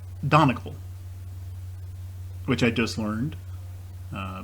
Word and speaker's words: Donegal: years ago and in my mind i've always pronounced it don eagle and that's not correct it's uh and then the viewer said no i think it's donegal and it's not this is pronounced donecal which i just learned uh because i looked